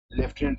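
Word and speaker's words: lieutenant: लिखा है लिeutenant स्काइंग, पढ़ रहे हैं लेफ्टिनेंट सीइंग।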